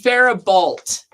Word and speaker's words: Faribault: her pronunciation. It's Faribault.